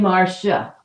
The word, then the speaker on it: Marcia: I pronounce mine Marcia, Sha. That's how my mother always did it.